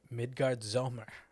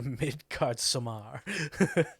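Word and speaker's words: Midgardsormr: midgard Z could return midgard Zer is how they pronounce it okay I thought it was a midcard Samar like mid Samar sorir okay the heavens are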